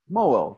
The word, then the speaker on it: Moeul: Yeah, have you ever heard of a guy named Moeul? Moeul? Moeul, that's it. That's the name.